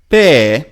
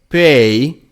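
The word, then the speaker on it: πι: Pe or pei, which is P in modern Greek, still pronounced the same, P, like pouch.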